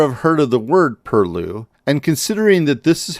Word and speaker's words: perloo: you might never have heard of the word purlue and considering that this is how you spell it versus pronounce it it may just be